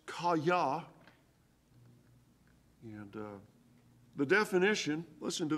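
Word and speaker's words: חָיָה: Well, the Hebrew word is phonetically pronounced kaya.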